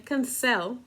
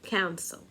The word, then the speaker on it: cancel: Como por ejemplo, cancel. No es cancel, es cancel. Ahí yo no doblo la consonante.